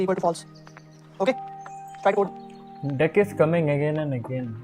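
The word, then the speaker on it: deque: Tech or DQ in deck or DQ is pronounced deck but you can call it DQ also whatever you like in that Q is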